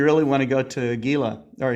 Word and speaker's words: Gila: want to go to gila or is it called pronounced gila or gila it's hela okay really nice oh yeah